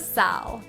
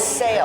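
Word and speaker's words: SAAL: Welcome to Saul. Saul. Seal? Saul. How do you pronounce this? It's pronounced sail, and it stands for Stanwood Artisan Ales and Lagers.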